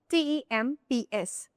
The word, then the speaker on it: temps: t e m p s temps In this word, there you can only listen to temps.